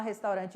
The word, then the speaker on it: restaurante: que a gente fala restaurante em espanhol restaurante restaurante escreve-se da mesma maneira porém a pronúncia vai ali vibrar o nosso R restaurante certo nós temos aí